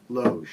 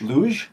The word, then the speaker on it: loge: Like you're mispronouncing lounge. loge. Luge?